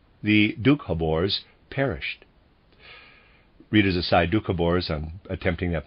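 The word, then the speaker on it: Dukhobors: served close quote the dukhabores perished readers aside dukabors on attempting that pronunciation is spelled d u k h o b o r s dukhabors and the readers aside but all those who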